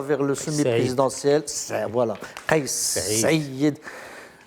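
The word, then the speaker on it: Saïed: On le prononce, c'est Saïd.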